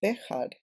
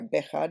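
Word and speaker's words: Béjar: um could also connect with the town of bead in Spain which is spelled with a j b b e j a r bead and it's near Portugal um and what we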